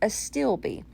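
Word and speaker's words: astilbe: where they pronounce it for you and it's pronounced a stilby so i took these cream color to steel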